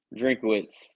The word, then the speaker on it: Drinkwitz: Missouri coach, Drinkwitz, Drinkwitz.